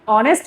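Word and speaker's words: honest: जैसे ऑनेस्ट है। ऑनेस्ट की स्पेलिंग एस से शुरू होता है। लेकिन उसका प्रोनंसिएशन ऑनेस्ट होता है। एच यहां पर साइलेंट है।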